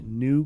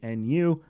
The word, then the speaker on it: Nu: Lambda class cough cough I know that it is pronounced new Class Shuttle but when I heard about this thing forever ago I called it the Nu and now I'm just